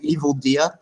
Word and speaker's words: EvilDea: evil deer oh what is there a different pronunciation no no it's weird because like I only ever hear it online in written form so I've never actually heard anyone call me evil dear oh there you go